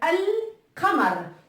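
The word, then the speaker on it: القمر: Donc, al-qamar. Donc, on voit bien que la lettre qaf, avec la lettre qaf, le lemme se prononce.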